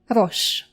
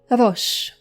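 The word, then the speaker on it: ראש: Rosh. Rosh. Say it one more time. Rosh.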